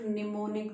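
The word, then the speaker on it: mnemonic: मैं आपको एक निमोनिक देना चाहती हूँ जिसमें एम साइलेंट है, इसको निमोनिक बोलते हैं।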